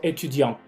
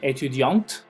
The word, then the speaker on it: étudiant: Pero aquí podemos ver algunos ejemplos, como por ejemplo étudiant. Étudiant, si se fijan, termina con T. Entonces no me pronuncien esa T, jamás. ¿Sí? Étudiant. Porque si me pronuncian étudiante, si pronuncian la T,